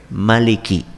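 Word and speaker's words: مَلِكِ: apa bunyinya malikinnas malikinnas cara membacanya cuma satu saja Maliki pendek tidak memiliki berbeda dengan surat al-fatihah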